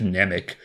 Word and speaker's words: Mnemonic: Mnemonic, god damn it, I think it's just Mnemonic, but I keep pronouncing the silent M.